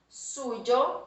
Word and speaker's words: suyo: Suyo, suya, suyos, suyas. Então, veja, la pronunciación parece un J en portugués, pero aquí tenemos la Y, o que llamamos la Y, ¿vale?